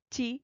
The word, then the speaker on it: ち: Even if it is from the T series, it should be pronounced as chi.